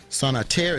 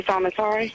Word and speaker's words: Sanatari: We have Sanater. Is that the correct way of pronouncing your name? Sister Sanatari. Sanatari, excuse me.